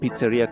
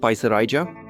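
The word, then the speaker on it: picerija: And here there's a place called Pizzeria Castal Familia. Some people think it's called Piseraja, but it's actually a pizzeria. It's just written in Lithuanian. In Lithuanian, it's spelled that way, but it's a pizzeria.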